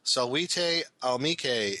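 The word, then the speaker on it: Salvete amici: To help for future reference, the greeting is pronounced Salvete Amice.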